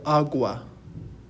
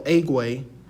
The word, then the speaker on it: agua: spanish word is el agua so repeat after me el agua el agua okay so notice that we're not saying el egui because a makes an ah sound in spanish then we have our